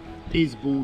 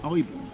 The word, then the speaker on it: Isbourne: Yes, if you say how it's spelt, you would say Isbourne or Ishbourne, but apparently locals, so I'm told by a local, it's called the Eyebourne.